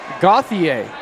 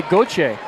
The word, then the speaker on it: Gauthier: And that's the funny thing too is my last name Gauthier is obviously French Canadian, but I grew up in Southern California, so we were pronouncing it Gauthier in Gauthier, right? The American way.